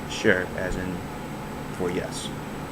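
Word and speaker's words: 是: opinion form of it it's spelled s h i and it is sharp and if you're listening it is the first tone so it goes down so sure and it's spelled like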